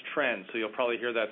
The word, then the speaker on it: TRND: Diseases Program, or TRND, which we've been pronouncing as TREND, so you'll probably hear that throughout this discussion.